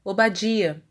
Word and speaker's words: Obadia: nome do profeta obadia percebam que a letra R não tem inserido nela sinal mapic evidenciando dessa forma sua função vocálica a qual é sinalizada pelo Comet gadol cujo som é a por isso pronunciamos obadia e por fim